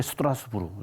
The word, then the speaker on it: 스트라스부르: 이렇게 스트라스부르. 지금은 스트라스부르죠. 네. 당시에는 네. 스트라스부르, 독일 발음은 스트라스부르크라고 합니다.